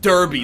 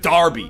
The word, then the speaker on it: Derby: how to pronounce it it's not pronounced Derby it's pronounced Darby even though it's spelled like Derby Eden wanted me to